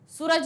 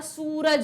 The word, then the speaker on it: सूरज: सूरज नहीं होता, सूरज होता है। अब देखिए प्रोनाउंसिएशन में देखिए, सूरज, सूरज, सूरज, सूरज। ऊ की मात्रा को हम लंबा खींच रहे हैं, बड़े ऊ की मात्रा को।